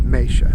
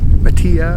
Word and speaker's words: Matia: I'm going to refer to it as Matia, because that's what I grew up calling it. I've also heard it pronounced Matia or Matia or any other variation, but no matter what